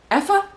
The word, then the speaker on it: Aoife: It says, I assume it's the Irish version of Eva, because it goes Aoife? Effa? Eva? I don't know, because it's spelled A-I-O-F-E, and I read it as Aoife.